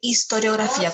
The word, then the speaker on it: historiografía: Historia e historiografía. Cuidado, se vayan a comer la sílaba como yo me la comí.